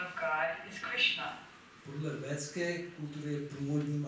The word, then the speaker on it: Krishna: called Puri, Jagannath Puri, where they pronounce Krishna as Krushna.